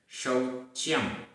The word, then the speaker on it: शौच्यम: किम, किम शौच्यम, शौच्यम, औ की मात्रा है, शौच्यम।